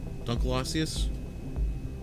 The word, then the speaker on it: Dunkleosteus: if they just modeled it off of the Dunkleosteus Dunkleosteus that's how you say it prehistoric giant giant